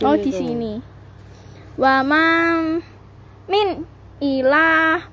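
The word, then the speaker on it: وَمَا مِنْ إِلَٰهٍ: Wama min ilah. Bener toh. Wama min ilah. Kamu tadi bilang illa.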